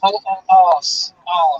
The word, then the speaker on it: arse: We say, well, arse with an R in it. A-R-S-E. Arse.